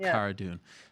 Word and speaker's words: Cara Dune: for me okay so Kihara dune like Carano Cara dune okay and there she